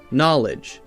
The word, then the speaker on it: knowledge: Now we have a silent K. So we don't say ke-nah, we say no. Knowledge, knave, knives, we say just And we also have